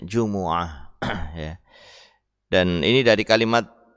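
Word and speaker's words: جمعة: Ada yang dengan Jumu'ah didomahkan. Ya. Apanya? Jim dan mimnya. Ada yang didomahkan jim dan mimnya. Ada yang difathahkan mimnya setelah didomahkan jimnya, Juma'ah. Ya. Ada juga yang membacanya dengan Jum'ah, disukun mimnya. Nah, ini semuanya benar. Tapi yang lebih masyhur, yang lebih terkenal ya yang didomahkan semuanya, jim dan mimnya, Jumu'ah.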